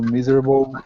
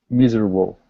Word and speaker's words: miserable: from cookie ignorance to miserable uncertainty good can you repeat cocky cocky good and miserable miserable miserable good miserable is a difficult word it's like comfortable so we don't really pronounce that e so we say MRA